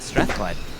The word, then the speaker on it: Strathclyde: Strathclyde? Yeah. No, oh, the 18-year-old, not the Yeah. 16, the 18-year-old. Yeah, no, you nailed it. Strathclyde.